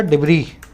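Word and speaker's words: debris: अब मलबे के लिए वर्ड है अपने पास बहुत अच्छा, डिब्री। इसका एस जो है साइलेंट होता है, ठीक है। लिखा जाता है डिब्रीज, लिखा जाता है डिब्रीज, लेकिन बोला जाता है डिब्री, ठीक है, डिब्री।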